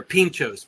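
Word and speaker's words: Pintxos: Restaurant and ask for Tapas oh okay they're Pinchos p-i-n-t-x here we go again oh and so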